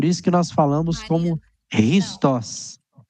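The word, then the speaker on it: Χριστός: Chá, Xé, Chu, não, ela é pronunciada com R de rato, de roupa. Então, por isso que nós falamos como Christos. Christos.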